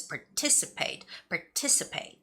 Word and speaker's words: participate: And the word participate, it's a long word, so you have to make sure you're putting the right stress on the right syllable, which is participate, okay?